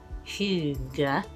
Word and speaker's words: hygge: look up on YouTube, and I think you pronounce it hygge.